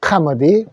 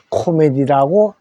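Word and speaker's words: comedy: 카머디. 희극이죠. 자, 그래서 우리 그대로 읽으면 코메디. 이렇게 쓰여져 있었기 때문에 우리는 코미디라고 했던 겁니다. 영어로는 카머디라고 하시면 됩니다.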